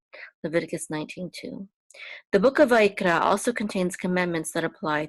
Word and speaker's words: Vayikra: So it's yik, vayik, and this is a resh with a kamatz, and this aleph together will say ra, vayikra, vayikra, which means, and he called.